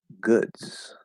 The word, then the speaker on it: goods: okay so vietnam uh how do you pronounce goods is glottal d here good question no um so goods goods goods goods if it were a glottal d a glottal stop d then that would be good and we don't say